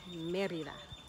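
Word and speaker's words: Mérida: or even the a only the e because that's where the accent is in the word merida merida and another state in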